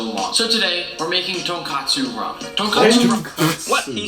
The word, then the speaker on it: tonkotsu: Yeah, So I just tonkatsu imagined like mean that. fried piece of pork. That completely different thing. Say it properly. much. Tonkotsu.